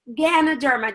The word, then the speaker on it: Ganoderma: out for you because when I first started I was like what can a dermal what it's Ganoderma g a and o de RM a Ganoderma more than two thousand